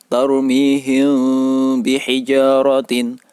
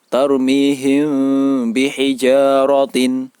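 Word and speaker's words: تَرْمِيهِمْ بِحِجَارَةٍ: Cara membaca bacaan ikhfa syafawi yaitu mim sukun bertemu dengan huruf ba. Cara membacanya yaitu antara bibir atas dan bibir bawah tidak sampai menempel, sehingga terjadi bacaan yang samar dan mendengung.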